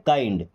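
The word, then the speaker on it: kind: किंड नहीं पढ़ते। क्या पढ़ते हैं? काइंड।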